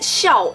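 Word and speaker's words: 孝: movie and connects the whole entire storyline it's pronounced as show in case you're wondering so in the movie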